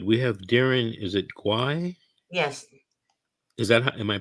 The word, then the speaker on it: Guay: are you good we have Darren is it gwai yes is that am I pronouncing it correctly yeah it's not gay no it's not he's not gay no no